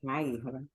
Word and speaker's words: Maíra: A pronúncia do seu nome é Maírla, é? É, Maíra, Tudo bem, Maírla?